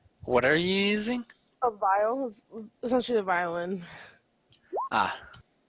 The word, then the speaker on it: viol: A viol is essentially a violin. Ah, Isn't it supposed to be viola? No, it's spelled viol. V-O-L. There's no A at the end. Yeah, it's not a viola.